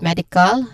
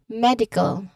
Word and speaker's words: medical: So let's start here with the word medical. So um I'm gonna say it again. Listen to how it sounds. Medical. Again. Medical. So where do we hear the stress? On the first syllable med.